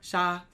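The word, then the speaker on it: 杀: How do you spell it? Sha.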